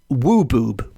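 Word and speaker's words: Wwbwb: not encountered before, and I am assured it is pronounced wooboob. Yes, wooboob.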